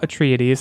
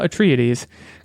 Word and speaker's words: Atreides: release date is the one-line summary is Paul Atreides again might be mispronouncing that Paul Atreides leads a nomadic tribes in a battle to